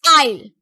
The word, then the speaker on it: isle: This isle. So S is silent letter here.